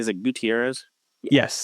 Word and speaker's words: Gutierrez: Is it Gutierrez? Yes. Gutierrez.